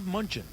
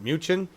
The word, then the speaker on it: Mnuchin: Treasury Secretary Steve Mnuchin has said that he is not concerned about artificial intelligence taking U.S.